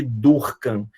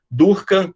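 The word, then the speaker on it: Durkan: E o mais sensitivo, né, o mais, digamos assim, específico, é o teste de Durkheim. Durkheim, como se escreve aqui, D-U-R-K-A-N, é uma compressão, uma digitopressão por alguns segundos desse nervo, e você tem uma resposta, tá?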